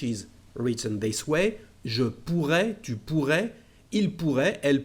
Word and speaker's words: pourrais: Well, here we've got two letter R's, so it is sometimes we insist in the pronunciation. Je pourrais, tu pourrais, okay? Not all the time, but if you want to make a difference, yes, you can insist on this letter R.